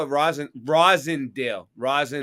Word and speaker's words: Roslindale: we call it Verizon rossindale Rising how far are you from Chicopee spelled with an L so that's weird why would everybody call it Roslindale but it's really Roslindale oh oh because they're